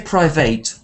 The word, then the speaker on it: private: jets don't come cheap don't say private because um eight uh remember we only say eight at the end of verbs like um to estimate and um appreciate but otherwise we say